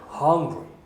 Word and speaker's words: hungry: 그 다음에 I was hungry 할 때 I was는 죽이죠. hungry 살리죠. I was hungry, 그죠? 리듬도 좀 익혀야 되겠죠. 영어의 리듬도. 발음은요. I was hungry 이럴 거예요. 아니죠. hungry. R 발음 들어가야겠죠.